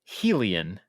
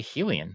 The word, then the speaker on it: Hylian: kylian I want to say helian you say Hylian I have always said Hylian all right I don't think I'm I'm not going to insist I'm right I'm just saying is that's how I pronounce it you're not right I